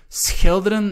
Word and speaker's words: schilderen: Schilderen, again, the SCH, sometimes difficult to pronounce for students.